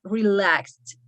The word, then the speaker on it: relaxed: like this relaxed here we pronounce just like that not relaxing or not decreasive just relaxed like a little t at the end okay here to decreased